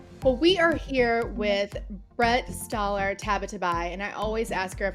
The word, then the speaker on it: Brette Stoller Tabatabai: together towards Justice well we are here with Brett staller tabatabai and I always ask her if I pronounce that right you got it I got